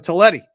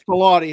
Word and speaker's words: Talati: And then we're thinking of Talletti today. Talati. I apologize. Is it Talati? Okay. It's Talati. It's correct how it's pronounced, but he's driving up to the Bay Area today, listening to the show.